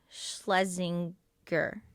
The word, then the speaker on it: Schlesinger: anyways um but say your name right eliza schlesinger schlesinger yeah okay it's just gur yeah okay